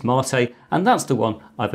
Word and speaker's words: MATE: two possible desktops available, KDE and Mate, or Mate, depending on how you want to pronounce it. I think officially it is Mate, and that's the one I've installed here.